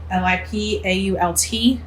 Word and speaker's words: Lipault: Now, it's spelled like for us Yankee type, no, we're not Yankees, but anyway, Le Pot is what it looks like. Lipault.